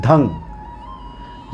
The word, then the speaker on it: धं: लेकिन उच्चारण इसको इस प्रकार से करना है कि ध के ऊपर बिंदी है। धम नहीं कहना है। धंग यह नाक से स्वर आएगा।